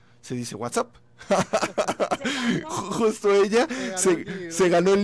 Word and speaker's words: WhatsApp: Y se lo sacó Marta González de La Calma, la que nos mandó el recado de no se dice WhatsApp, se dice WhatsApp.